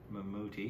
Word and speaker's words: Mammootty: 89 right yeah uh for this film um mamuti is how you pronounce it am I just white white Whiting